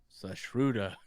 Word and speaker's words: Sushruta: I'm not good at pronouncing names. It's Sushruta.